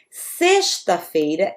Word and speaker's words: sexta-feira: Segunda-feira, terça-feira, quarta-feira, quinta-feira, sexta-feira, esse X vai ter som de S aqui.